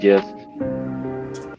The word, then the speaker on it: Gist: Oh, and it's pronounced Gist. What? I said his last name is pronounced Gist. Is it Gist? Yeah. Well, son bitch, I've known this dude for like over a year, and I've been saying Geist this entire fucking time, and nobody's correcting me till now.